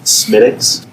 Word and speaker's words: Smithwick's: I mean, Smithwick's is an Irish Red Ale. But Oh, okay. I was going more general. Did you know that that's pronounced Smittix?